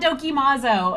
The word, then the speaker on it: Dokimazo: Hot Dokumozo is what we say. Hot is spelled like H-A-U-T-E, oat, if you are French, but we're super American.